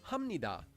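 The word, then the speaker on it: 합니다: example take this word we previously learned that this is pronounced hamnida because there's the consonant b that's followed by a neon so in this case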